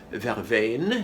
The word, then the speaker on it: verveine: Okay, I always use verveine is how we pronounce this in French, which is probably where the term van came from, because people heard the traders talking about the verbena, and it was verveine, or if they were